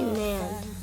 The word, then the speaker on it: NAND: I say NAND. It's N-A-N-D.